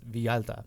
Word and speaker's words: Villalta: discovered is okay so my last name is vialta it's spelled v-i-l-l-a-l-t-a yeah so like it's a via up up in the